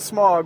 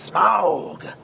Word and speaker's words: Smaug: blog for uh the desolation of smog always pronounce it smog but apparently it's smog so smog uh the first Vlog was live